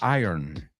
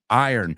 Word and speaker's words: iron: Es raro porque es como si la R y la O le das la vuelta. Iron. A lo mejor te ayuda así. Right? Iron.